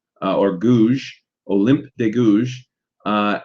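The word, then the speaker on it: Gouges: de gosh uh or gouge olymp de gouge uh and her last name is spelled uh d e day uh g-o-u-g-e-s and I'm not French so I'm probably butchering that name olymp de gouge and she wrote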